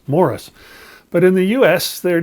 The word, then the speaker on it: Maurice: Here in Canada, as well as in England, where Maurice is from, that's how you pronounce it. Same as you'd pronounce Morris, Morris.